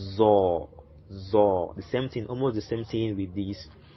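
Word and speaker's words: ظاء: So we'll call it Zor, as in zodiac, Zor, Zor.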